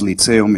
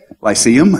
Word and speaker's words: lyceum: to the young men's lit salem in springfield sorry i pronounced that the polish way we say how is it pronounced in english lyceum okay addressed to the